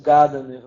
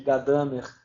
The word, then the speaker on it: Gadamer: Que as pessoas chamam de Gadamer, que é uma tendência da língua portuguesa, né? Ela puxa sempre o acento para as primeiras sílabas, né? O alemão não, o alemão está sempre puxando para as últimas sílabas.